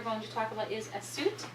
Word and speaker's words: Assuit: So the proper pronunciation of this cloth we're going to talk about is Assuit. Just like the city in Egypt, Assuit.